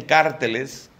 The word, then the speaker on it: carteles: Como tenía competencia con otros carteles, otros dicen cárteles. ¿Aquí pronuncian cárteles?